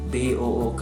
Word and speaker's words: book: Double O itu dibaca U kalau bahasa Inggris. Book.